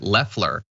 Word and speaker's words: Loeffler: Pretty sure she pronounces it Leffler.